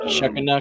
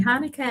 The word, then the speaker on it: Hanukkah: Happy Shuckanuck or hey, something. I don't know. Nothing personal. I love you. That's Hanukkah. That's not phonetically. It's spelled at all. Nope. Happy Hanukkah, everyone.